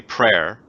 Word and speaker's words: Prayer: I am prayer yes my name is really prayer and you spell it just like that p r a y